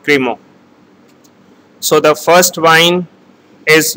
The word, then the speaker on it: Crémant: And the second term is called Crémant. First term is Mousseux and the second term is called Crémant.